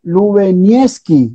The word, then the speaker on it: Lubieniecki: Lubinieski, así se pronuncia.